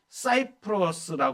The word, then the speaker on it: 키프로스: 지도에 세계 지도에 보면 키프로스 섬 키프로스 섬입니다 그리고 사이프로스 이렇게 발음하기도 합니다이 섬은 지중에서 세 번째로